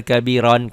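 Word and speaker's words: كبيرا: kan ada Allahu akbar kabiron kabiron asalnya kabiron tuh Ya kabiron ini Kabi kabiron selalu ada alifnya ya tuh kabiron tuh karena dihentikan membacanya jadi kabiro jangan Allahu akbar kabiron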